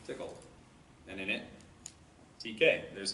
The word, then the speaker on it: Tcl: verified this is accurate, Tickle, TCL, tool command language. I watched videos from the annual conference, which is not called TickleCon for some reason. Make sure I was pronouncing it right, but it's Tickle.